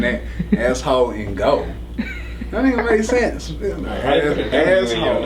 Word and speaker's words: AssHoleInGold: I'm gonna spell it out this time because for whatever reason, it always lose translation. Yeah. So it's ASSHOLE. Ain't no W in there. It's asshole. INGOLD. Not asshole in go.